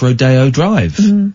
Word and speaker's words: Rodeo Drive: Although it is pronounced Rodeo Drive, which is crazy.